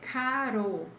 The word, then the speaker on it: caro: And there's another case of R, which is okay, the single R in the middle of the word and between vowels. So, ro, ra, re, caro, quimera.